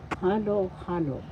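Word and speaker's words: halo-halo: So halo halo halo first syllable ha second syllable law. The accent is on the first syllable halo halo and that's repeated halo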